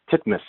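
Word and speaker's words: Titmus: And Bob, uh, it's Bob Timus, right? Titmas. How do you pronounce it?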